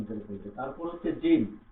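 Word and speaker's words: جيم: কি করব আমরা তার উচ্চারণ করব তারপর হচ্ছে জিম জিম জিম উচ্চারণ করবো কিভাবে?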